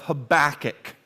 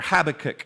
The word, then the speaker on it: Habakkuk: to the Old Testament book of Habakkuk or Habakkuk however you like to pronounce it you may hear me pronounce it both ways that's because I get mixed up most of the time I say Habakkuk he's an Old Testament